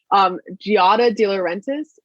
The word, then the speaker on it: Giada De Laurentiis: anything, not like in a bad way, but Giada De Laurentiis, that's how you say her name, from the Food Network.